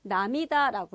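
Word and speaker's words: 涙: 눈물 루자로 온 건데 남이다라고 읽어요.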